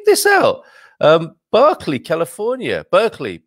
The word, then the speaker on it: Berkeley: out um berkeley california berkeley buck we say barkley don't mean it's berkeley isn't it when you pronounce it as it as it's written um in um it